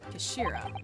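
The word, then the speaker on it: 頭: It's written as head in Japanese, but it's pronounced Kashira, I believe. Kashira.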